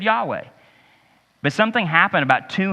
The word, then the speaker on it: Yahweh: why is it Yahweh it was a Hebrew word that they didn't really even know how to pronounce they've kind of settled through the years to pronounce it Yahweh but the problem was that ancient Hebrew didn't have any vowels in it and so it basically